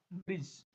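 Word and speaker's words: bridge: डी कहाँ silent होता है? डी जी जब इकट्ठा हो तो साउंड किसका आएगा? ज का साउंड आएगा, तो क्या बोलते हैं? ब्रिज। ओके, तो हम बोलेंगे ब्रिज।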